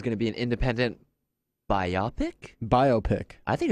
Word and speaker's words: biopic: He said it rhymes with myopic, Really? and it's not myopic. I don't know. Anyway, so It's biopic.